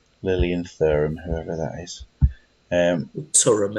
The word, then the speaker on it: Thuram: Turum, if we're pronouncing it like Durham.